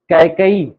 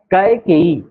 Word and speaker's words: कैकेयी: कैकई, केकई नहीं होता, केकई नहीं होता, क्या होता है? कैकेयी।